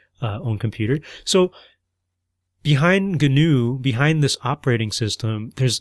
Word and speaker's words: GNU: what you're talking about, do not pronounce it like the antelope like animal that may live in other continents.